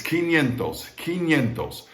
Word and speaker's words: quinientos: n and king keen q u i n don't pronounce the u all right and then yin again like uh japanese money is that that yeah that's 500.